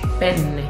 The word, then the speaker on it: penne: Penne. Penne.